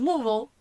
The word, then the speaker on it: Louisville: And he drafted out of Louisville, because Steve said it wrong earlier, it's Louisville.